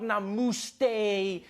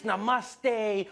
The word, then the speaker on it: namaste: People were coming on like, dude, it's not namuste, it's namaste. Who messes up namaste?